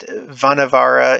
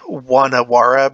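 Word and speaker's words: Vanavara: you and i know that's probably pronounced one awara because they do the v's different that like reverse just like germany but whatever who cares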